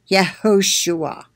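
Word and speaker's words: יהושע: Yehoshua. It's H3091. It's pronounced, let me show you the pronunciation.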